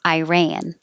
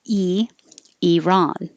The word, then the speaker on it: Iran: quantity of land six a lot of americans will say pronounce this as an i at the beginning because it looks like an eye so iran and then others will say e iran so you usually have